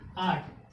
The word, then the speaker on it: eight: क्या साइलेंट है, EIGHT, GH एक साथ आ गया, यानी किसी भी वर्ड के लास्ट में या GHT एक साथ लिखा हो तो उसमें क्या हो जाएगा, GH साइलेंट हो जाएगा।